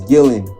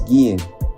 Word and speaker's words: Guillen: He pronounced his last name as Gillen with hard L's instead of the way it should have been pronounced as Guillen with silent L's.